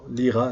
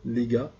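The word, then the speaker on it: ليغا: Liga, on avait carrément avec une lettre qui ne se prononce plus comme en arabe. Liga, cette lettre-là, Lira, non, Liga, la Ligue.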